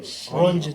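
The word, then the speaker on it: Röntgen: How do you pronounce his name? Rongen.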